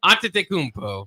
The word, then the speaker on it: Antetokounmpo: How do you pronounce that name? Antetokounmpo.